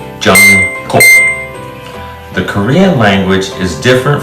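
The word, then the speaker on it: 정국: And the third syllable is Kook. The first letter and last letter are GK. It's somewhere in between a G and a K. Gook.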